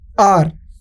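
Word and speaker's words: hour: तो राइट, देखिए अब जरा ध्यान से देखिए, आर अगर आप इसको प्रोनाउंस करेंगे तो एच जो होता है वो साइलेंट होता है, राइट।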